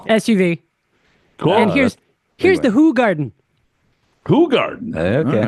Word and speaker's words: Hoegaarden: Actually, he says it's pronounced Hoegaarden. A cold Hoegaarden. Hoegaarden. That's a Belgian white bitter and de-emphasizes hops is unfiltered. By the way, it's pronounced Hoegaarden.